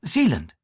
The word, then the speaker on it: Zealand: Near Zealand? Is that how you pronounce it?